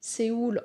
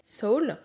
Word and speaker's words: Seoul: anglais signifie âme et la façon de prononcer seoul en anglais sol ça sonne presque identique voilà pourquoi il pose